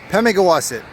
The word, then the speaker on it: Pemigewasset: Pemigewasset River. Pemigewasset. Say it as it's one word, not three separate syllables. Pemigewasset. Actually, that'd be 4 syllables.